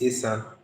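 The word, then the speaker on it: Esan: say isan but it's not pronounced I isan isan person real Asian person will never tell you isan it's asan asan e s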